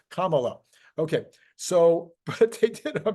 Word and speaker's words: Kamala: of people bashed me camela Kamala Cela I don't know anyway I finally got it it's Kama it's like the like the Kama you know Kamala okay so but did